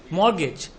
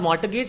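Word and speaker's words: mortgage: मॉर्गेज, T silent, not मॉर्टगेज, इट्स मॉर्गेज, मॉर्गेज, T silent, मॉर्टगेज नहीं, लोग बोलते मॉर्टगेज, इट्स नॉट टी, T silent, क्या बोलोगे, फिर मॉर्गेज बोल रहा कोई लोग अभी भी, मॉर्गेज।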